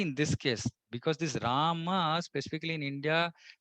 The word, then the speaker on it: Rama: Like, see, the person in Bengal, they're calling him Ramo. Now, if you ask them to say, come say Rama, they will not be able to chant at all.